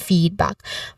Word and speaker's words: feedback: Feedback, the stress is on the first syllable, feed. This has a long E sound.